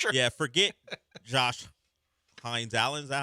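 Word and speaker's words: Hines-Allen: Forget Josh Hines Allen.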